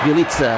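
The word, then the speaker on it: Bjelica: Bielika with the rebound, puts it in off the glass. Bielitsa, that's the way you pronounce his name.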